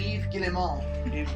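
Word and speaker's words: Yves Guillemot: the yub Ubisoft CEO Eve gilon says the lack of that's his name French say it like that cuz he's French what did you say what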